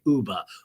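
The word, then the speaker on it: Ubah: lives in Brooklyn okay Uber Uber Uber rhymes with tuba uba tuba uba tuba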